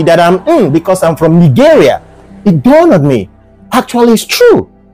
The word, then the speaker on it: Nigeria: gave us that name Nigeria actually they didn't give us Nigeria it was Nigeria we have been pronouncing our country's name all wrong yes it is not Nigeria it is actually Nigeria you can take it